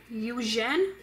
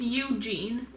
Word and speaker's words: Eugene: elsia okay next up you jen i'm here but excuse me you didn't pronounce my name right oh i'm so sorry how do you pronounce it it's eugene okay i'll remember that